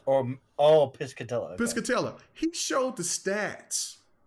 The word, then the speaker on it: Piscatella: Matt uh Pisha ptia I forget how you pronounce his name he does no no piscatella or oh piscatella piscatella he showed the stats of high five